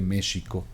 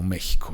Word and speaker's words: México: O sea, la X no tiene sonido de J en español, pero en algunos casos se hacen excepciones, en estos que se cambió de sh a J. Como México, o sea, en realidad se pronunciaba México.